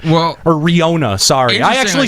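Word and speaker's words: Rinoa: Well, because God only knows how Renoa is spelled. Well, or Riona, sorry.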